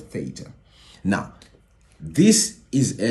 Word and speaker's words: theta: In Greek, actually, it's called theta, not theta. However, for most of us South Africans, we say theta, theta, theta. That's why I'm saying theta. But in Greek, it's called theta.